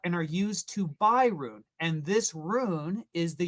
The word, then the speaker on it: Rune: Thor chain's token is called Rune and that's spelled R U N E. Rune.